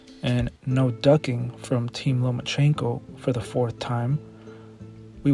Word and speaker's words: Lomachenko: I think you said his name wrong. It's Lomachenko, because he doesn't want to fight me.